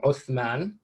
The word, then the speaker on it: Uthman: The word Ottoman is derived from a mispronunciation of the word Osman, or the name Osman, which is itself a Turkish mispronunciation of the Arabic name Uthman.